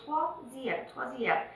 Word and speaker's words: troisième: If you look at this word, it does not have the letter W in it. But when you produce it with your vocals. When you pronounce it, you say troisième.